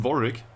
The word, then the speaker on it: Warwick: It's pronounced Warwick, and yes, I am interested, of course. So it's Warwick.